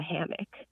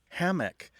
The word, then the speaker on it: hammock: Hammock tends to have a stress on the first syllable, where hammock tends to have a stress on the second syllable.